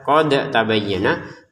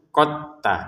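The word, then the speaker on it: قد تبين: Jadi jangan dibaca qad tabayyinah walaupun di sini sebenarnya da sukun. Kenapa? Karena bertemu ta. Sudah dimasukin ke ta. Jadi cara bacanya langsung qotta langsung ketnya.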